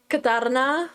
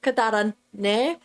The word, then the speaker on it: Katarane: My name is Katarana, or if you say it properly, it's KataraNe, or Katarana if you don't want to do that, or just Kat.